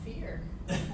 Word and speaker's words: Fuhrer: Fuhrer. Rhymes with beer. Fear? Fear.